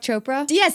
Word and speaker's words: Chopra: Chopra?